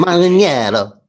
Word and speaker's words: Manganiello: Close. You are that's passable. I will take it because you hit Manganiello. Italy is Manganiello. And America's Manganiello. Manganiello. Yeah. Manganiello. Yeah. Manganiello.